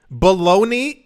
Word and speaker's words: bologna: differently and then to find out that baloney is spelled bologna it still hurts like